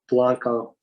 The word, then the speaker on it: Blanco: bend ranch okay gotcha i'm using the texan pronunciation of blanco it's interesting i'm in